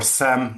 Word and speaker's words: SIEM: How are SIEMs transforming today? So, I've seen I've been working in the in the in the SIEM or SAM, depending who you talk to, they pronounce it different ways, space for for I